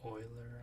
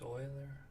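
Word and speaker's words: Euler: that's nice adapted from Project Oiler I think it's pronounced Oiler okay so then you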